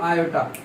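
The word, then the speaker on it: iota: लेकिन इसके यहाँ पर एक आयोटा आता है साथ में हमेशा, एक आई जैसा सिंबल होता है, आयोटा बोलते हैं। क्या बोलते हैं? आयो बेटा, ठीक है। सिंपल प्रोनाउंसिएशन करो, आयोटा।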